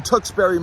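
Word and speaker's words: Tewksbury: tuxbury Massachusetts unfortunately it's another town that is spelled incorrectly people that started naming these places were cocked out of their minds supposed to be Tuk t o o k s b u r y I'm vetoing this is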